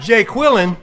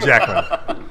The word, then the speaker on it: Jacqueline: A lot of Texas people cannot pronounce my name, Jacqueline. Jacqueline, No, Jack- Jacqueline. Jacqueline. But it's not like Jay Quillen.